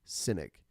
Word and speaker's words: Sinek: Why by Simon sinek I think it's pronounced cynic s-i-n-e-k whoops how great leaders